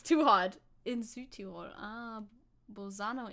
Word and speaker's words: Bolzano: hot in Suitor ah bosano in Italian it's Bolzano in Italian either way it's too